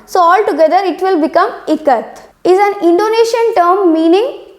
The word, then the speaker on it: Ikat: So from it you need to take the pronunciation of I so that it will be E, right?